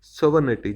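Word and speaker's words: sovereignty: हैं सोनि बोलते हैं सोवर निटी जी साइलेंट है यहां पर सोवर निटी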